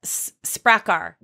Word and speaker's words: Sprakkar: So let's talk about Secrets of the Sprakkar.